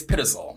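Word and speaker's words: Pitezel: look it up okay we looked it up it's pitasal so Benjamin pitisol was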